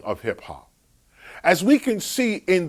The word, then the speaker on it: hip hop: the term hip hop, it, hip hop, is pronounced with alterations of lighter and heavier vowels: drip drop, tip top, flip flop, hip hop.